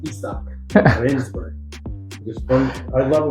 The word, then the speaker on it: Izak: His name is pronounced Izak, Rensburg.